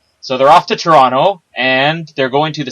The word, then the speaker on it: Toronto: They're all off to Toronto, or I pronounced it the wrong way, as anybody in Canada knows. You don't pronounce the second T. If anybody's seen Argo, that's 100% accurate. Toronto.